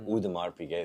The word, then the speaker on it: Audemars Piguet: It's when Travis Scott did a collaboration with Audemars Piguet, or Audemars Piguet is how they pronounce it. I know it's kind of, you know, everybody says it their own way, but that one was I sold that one for $386,000.